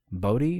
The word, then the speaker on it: Bodhi: was his name uh bodhi booty body was it yeah it's it kind of rhymes with brody like you know from